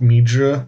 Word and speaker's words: 蜜汁: So like they'll write the characters differently, but it almost always is pronounced mi zhi, and it just means like a sweet sauce, kind of like a barbecue-y sauce.